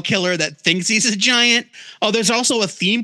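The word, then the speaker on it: Gyant: supposed to be pronounced giant I in my head kept calling him giant it's definitely giant there's no question there's too many puns for it not to be giant I mean I get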